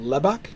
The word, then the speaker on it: Lebach: Again, James Lebach having a or Lebach? I don't know, where's the stress in your last name? First syllable or second syllable?